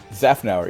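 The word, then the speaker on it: Szafnauer: has announced that formula one team principal opmah zafnar did it pronounced that correctly zaffner yeah yes two for two two for two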